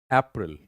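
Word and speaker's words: April: तो that is अप्रैल अप्रैल अप्रैल अब देखो यहां पर कहीं पर भी आई का साउंड नहीं आ रहा इट्स नॉट अप्रैल या अप्रैल that is ए A that is अप्रैल।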